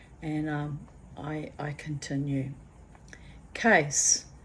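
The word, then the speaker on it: Cees: um I I continue case it's spelled c EES but pronounced case as a suitcase or legal case or nut case his name was cornelus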